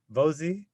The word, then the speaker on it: Vozhi: I'll be talking to Vozhi. Rhymes with cozy. I was mispronouncing it all this time, so that's my fault. Excited to be talking to Vozhi.